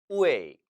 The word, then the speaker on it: 味: 우웨이, 우웨이. 절대 웨이라고 읽지 마세요. 이것은 우 모음과 에이 모음이 합쳐진 우웨이, 복모음입니다.